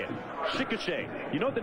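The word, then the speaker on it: Chickasha: He's from Chicochet, Oklahoma. That's how you say it. Chicochet.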